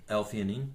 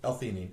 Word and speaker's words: L-theanine: gaba there is some evidence how do you pronounce this some Theni l-theanine l-theanine okay so l-theanine or glutamine are both there's